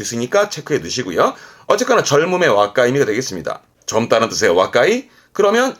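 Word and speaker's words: 若い: 발음은 와까이, 와까이.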